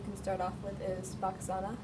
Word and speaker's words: Bakasana: And the most basic one that you can start off with is Bakasana, or Bakasana is how they actually pronounce it.